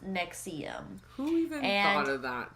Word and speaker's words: NXIVM: with that being said let's jump right into nexium all right y'all so we are gonna discuss the rise and fall of nexium spelled in all capital letters nx ibm but it is pronounced nexium who even thought of that stupid i don't